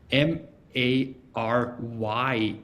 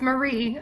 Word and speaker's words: Mary: It's spelled m a r y. Yeah, I got a little tripped up here. So, Erica, you got me straightened up, right? Yep, it's Marie.